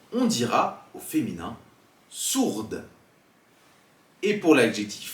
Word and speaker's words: sourd: Dans le mot sourd ou encore franc, comme vous l'écoutez, on ne prononce pas le D et le C.